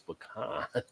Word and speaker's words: pecan: It's got the little U symbol, which denotes a softer pronunciation from the dash. So, pecan, not pecan, like an old-fashioned slop jar. So there you go. So according to the Webster family, it's pecan.